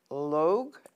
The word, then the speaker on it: Logue: And Pat, and I think it's pronounced Logue, L-O-G-U-E, was a Lambda legal attorney